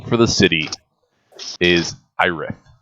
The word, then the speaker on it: Ayrith: The name for the city is Irith. Ayrith. No, is this city the capital or the wharf or? Nope, this is the frontier town you have been in. Aerith?